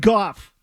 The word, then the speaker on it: Goff: Jared Goff rhymes with cough.